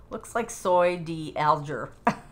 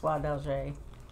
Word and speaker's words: Soie d'Alger: There's lots of different Verisois, but a Verisois Soie d'Alger is the, it looks like soy d'Alger, but it's pronounced Soie d'Alger because, you know, I'm French.